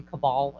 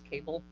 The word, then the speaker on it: cabal: thrown out of congress for mispronouncing cabal as cable i think so yes